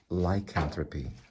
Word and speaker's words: lycanthropy: So it actually is pronounced lycanthropy.